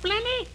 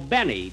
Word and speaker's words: Benny: Jack Blenny? Blenny? No, Benny. Benny. The L is silent in there.